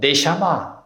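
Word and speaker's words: נשמה: 그래서 이 생명의 숨 하나님이 믿는 이에게 불어넣으신 이것을 우리는 히브리어에 보면은 히브리어로 네샤마. 다 같이 해보세요. 네샤마.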